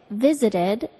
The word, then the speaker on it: visited: And when I say visited, as in I visited New York City, how did I pronounce that ed ending? Visited. The ed verb ending sounds like id.